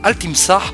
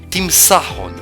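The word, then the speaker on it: التمساح: Petite recherche sur Google donc, Al-Timsah ne se prononce plus de cette manière aujourd'hui. On dit Timsahon.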